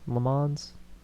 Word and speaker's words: Le Mans: That's LOSTONLEMANS, Le Mans. That's all. I always have to spell it. I always say it's lemons, but with an A.